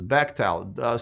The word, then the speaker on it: Bechtel: I had to learn how to pronounce this, Bechtel.